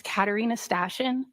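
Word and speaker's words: Katarina Stashyn: My name is Katarina Stashion. First name is spelled K A T A R I N A.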